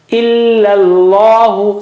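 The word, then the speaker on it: إلا الله: Qala Allahu, qala Allahu, qala Allahu, illa Allahu. So illa, first one is flat and thin, and the other one is thick.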